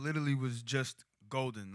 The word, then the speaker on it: Goldn: started making music My Name literally was just golden like g o l d n spelled like my government name but whenever I told